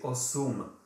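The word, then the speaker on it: osm: uh s m but to make it easier to pronounce we also pronounce the u in uh the before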